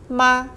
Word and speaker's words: 吗: The whole character is pronounced as ma.